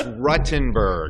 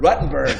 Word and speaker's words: Ruttenberg: Thanks for coming in, 14 years, and he still can't pronounce my name right. It's Rutenberg. Rutenberg, see, look.